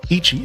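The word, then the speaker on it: いち: I have decided to name him Ichi, pronounced Ichi, okay?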